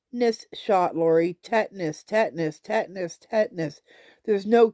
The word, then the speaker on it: tetanus: But it is a tetness. See the even got me saying it wrong. Tetness shot. Lori tetanas. Tetanas. Tetanus.